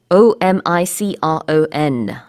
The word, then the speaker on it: Omicron: O-M-I-C-R-O-N. 우리는 이제 오미크론 이렇게 발음을 하고 있고요. 어제, 그제 계속해서 제가 이제 영어 뉴스를 보니까 외국에서는 주로 Omicron 이렇게 발음을 하더라고요. 그래서 Omi 발음보다는 Oma에 좀 더 가깝습니다.